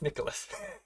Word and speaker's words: Nicolas: I forgot the S, so I'm gonna have to update that later. It's Nicolas, but Nicola.